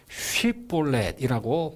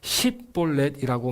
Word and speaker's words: 쉿볼렛: 만일 아니라 하면 6절 그에게 이르기를 쉿볼렛이라고 발음하게 하여 그렇게 말하지 못하고 십볼렛이라고 말하면 죽였더라. 12지파가 가나안 땅에 자기 기업을 분배받아 정착한 지도 300년 이상이 흘러 지방색을 띠어 사투리 발음이 생겼다. 당시 에브라임 사람들은 SH 발음을 내지 못해 대신 S 발음을 내고 있었다.